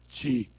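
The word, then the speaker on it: Qi: the flower tea called Chi. It's spelled with a Q-I, but it's pronounced Chi.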